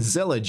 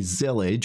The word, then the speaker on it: Zellij: nothing to do with intellig so it's not zelig it's actually zelig what this is this is a Moroccan Arabic